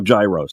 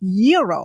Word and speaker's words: gyro: in line at Papa Gyros I order the gyro Supreme suddenly the lady behind me chimes in it's pronounced Euro then the fella behind her says it's a gyro I turn my back